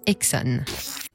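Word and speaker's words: Esso: Désormais, on l'appelle par ses initiales, SO, qu'on prononce Exxon.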